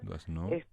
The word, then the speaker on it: Doisneau: conocía, que se llama Robert Doisneau. Robert Doisneau. Robert Robert Doisneau. Doisneau se escribe, vamos a decirles cómo se escribe Sí. Robert Doisneau, Ujú, bien francés, Doisneau, se pronuncia. Doisneau.